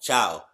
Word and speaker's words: ciao: the spelling of it i'm gonna try to pronounce it before she says it see ca i don't know okay how did she say what wow i was so off ciao okay i got it